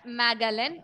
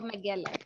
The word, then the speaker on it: Magellan: Ferdinand Magellan or Magellan. Both are fine.